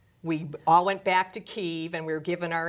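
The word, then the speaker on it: Kyiv: is the ukrainian pronunciation a lot of folks are going to say kiev that's russia that's russian that's also the chicken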